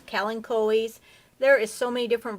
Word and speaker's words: Kalanchoe: That is the correct pronunciation, I believe. It's Kalanchoes.